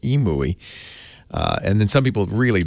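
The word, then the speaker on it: EMUI: version of Android called EMU II I think that's how you pronounce it EMU II and then some people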